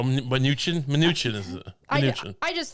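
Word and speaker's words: Mnuchin: have an expressed interest I believe it's munchin he didn't know how to say though minuchin minuchin is it I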